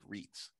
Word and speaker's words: REIT: real estate investment trusts which are pronounced reits knowing how to pronounce